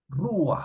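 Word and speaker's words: רוּחַ: Ruach, Ujú, ruach, es una monosílaba. La pata que está ahí es furtiva, no forma parte de la ujú.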